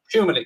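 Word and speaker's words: Tchouaméni: TCHOUAMENI, and I've got no idea how you pronounce her first name. Arlian, apparently. Shumani, yes.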